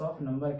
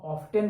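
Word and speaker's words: often: इसको हाउ ऑफ्टेन भी पढ़ सकते हैं, दोनों प्रोनाउंसिएशन सही होता है। अमेरिकन के अनुसार हाउ ऑफ्टेन होता है और ब्रिटिश के अनुसार ऑफन होता है।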